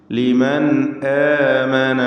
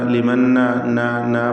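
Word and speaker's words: لِمَنْ آمَنَ: ലിമൻ ആമന വഅമില സാലിഹാ, ലിമൻ ആമന, അവിടെ ലിമൻ ആമന, ലിമന്ന പറയരുത്, ലിമന്ന പറയരുത്, മറിച്ച് ലിമൻ ആമന വഅമില സാലിഹാ.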